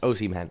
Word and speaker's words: Osimhen: It's Osimhen. Okay. I'm going to mispronounce his name once or twice.